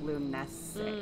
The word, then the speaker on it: Lughnasadh: Irish kind of folklore that it would be pronounced luminous which is the prettiest one so far right